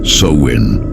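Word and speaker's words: Samhain: Antes de ser llamado Halloween existía una celebración celta llamada Samhein. Se pronunciaba Sen.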